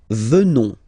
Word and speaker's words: venons: Nous venons. Okay? O-N-S, classical ending for nous. Okay? Final S not pronounced. So O-N, on, venons.